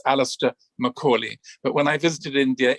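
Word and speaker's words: Alastair Macaulay: works and if you want to check the pronunciation of my name it's alistair macaulay but when i visited india it was a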